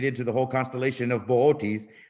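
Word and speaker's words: Boötes: the whole constellation of ball T's which most people want to pronounce as bootys but that constellation really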